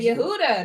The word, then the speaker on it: Yehuda: He said it right. He said Yehuda. That's right. Yehuda, Yep, you're right. You are absolutely right.